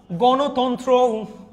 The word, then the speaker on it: গণতন্ত্র: গণ মূর্ধন্য থাকলে দন্তন্য হয়ে যায় তন্ত্র, গণতন্ত্র।